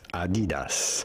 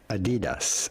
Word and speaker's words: Adidas: In German they would say Adidas. Adidas without stressing on any syllable in particular. Adidas.